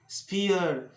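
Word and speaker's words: sphere: जब ई के बाद आर लगा हो और उसके बाद फिर ई आता हो, यानी ई और उसके बाद आर और फिर से ई आ जाता हो, तो ऐसी स्थिति में ई का उच्चारण होता है। जैसे हियर हियर स्फीयर कोहियर कोहियर और एटमॉस्फियर, तो ये वाली उच्चारण होना चाहिए।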